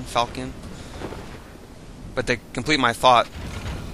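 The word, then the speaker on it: falchion: in the level falcon I'm not sure if the H is silent on that falchian falcon but they complete my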